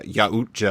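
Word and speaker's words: Yautja: YA dash big O T dash JA. So Yaucha, I think it is.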